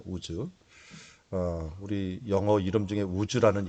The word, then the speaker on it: 우스: 우스라고 하는 것은 원래 발음은 우즈입니다. 우즈.